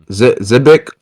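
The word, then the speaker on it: Xebec: Zebeck, that's how you say his name. Roxy Zbec.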